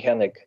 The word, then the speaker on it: Hennig: have I said the name wrong? Hennig? I don't Amy know. Hennig. Yeah. Say that again, Willie? Amy Hennig.